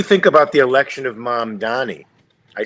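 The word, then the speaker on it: Mamdani: What do you think about the election of mom Donnie?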